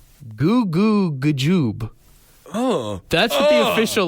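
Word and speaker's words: goo goo g'joob: Apparently, we've all been saying it wrong. It is not cuckoo, kachoo. What is it? Goo goo gajoob.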